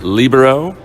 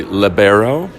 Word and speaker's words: libero: Well, I pronounce it the way the rest of the world does, which is libero. In this country, we pronounce it generally libero.